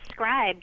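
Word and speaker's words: Scribd: my next link is scribed or scrib depending on how you care to pronounce it and the idea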